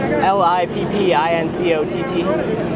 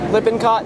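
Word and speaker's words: Lippincott: I a l i p i n c o t.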